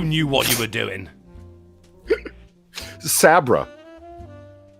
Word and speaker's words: Sabra: what you were doing sabra i think you're mispronouncing saber no the princess's name that saint george saved was sabra s-a-b-r-a i just